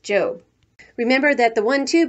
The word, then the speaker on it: Job: one two way before going off to her job which in the Bible is pronounced job remember that the one two books Sam is